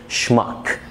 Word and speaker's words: schmuck: دايرين قوي ال S C H بتتنطق شا في كلمات بتبقى جاية من الالماني، زي كلمة schmuck يعني fool او غبي.